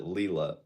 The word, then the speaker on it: Layla: That is someone else, and their name, they pronounce it Leela.